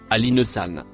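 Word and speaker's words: الإنسان: Le mot bleu ciel se prononce Alinesan.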